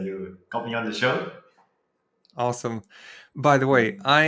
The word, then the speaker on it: Shio: what's your first name then first name is show show like oh so it's actually yeah correct